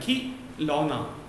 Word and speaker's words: खिलौना: तो ख में छोटी ई की मात्रा, खी कम देर के लिए उच्चारण है, खिलौना, खिलौना।